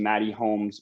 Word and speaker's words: Mxtty Holmes: you'll actually notice that there's no x it's actually maddie holmes without dx had to be a